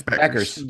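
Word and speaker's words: Bueckers: actually uh Paige Booker how do you pronounce it's Beckers okay so she has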